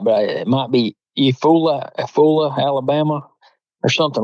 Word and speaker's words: Eufaula: I'm saying it right, but it might be Eufaula, Alabama, or something like that. I can't think of the name. Eufaula is the way that's pronounced. That's it, Eufaula.